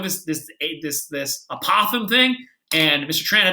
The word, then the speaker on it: apothem: this ate this this apothem thing and mr tran it would be like it's actually pronounced apple them all right cool okay